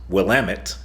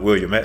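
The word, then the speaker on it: Willamette: It's Wamtt, not William.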